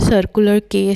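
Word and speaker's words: Quay: इसको बोलते हैं सर्कुलर के स्टेशन है। ये सर्कुलर के के स्पेलिंग के नहीं है। क्यू यू ए वाई हैं। तो प्रोनाउंसिएशन उसकी सर्कुलर के बनती है।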